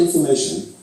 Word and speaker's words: information: And in information, the syllables before and after the stressed syllable reduce to schwas.